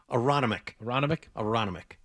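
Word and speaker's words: Aronimink: How do you pronounce it? Aroniminic? Aronimic.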